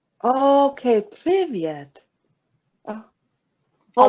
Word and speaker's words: привет: It's привет. Okay, Privyet.